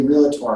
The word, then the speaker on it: Realtor: Two correct pronunciations, realtor or realtor, but there's Realtor. only two syllables.